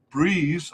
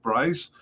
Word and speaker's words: Brys: In came manager Mark Breeze, I think it's Brys, maybe pronounced Bryce.